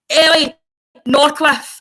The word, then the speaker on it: Ellie Norcliffe: Ellie Norcliffe.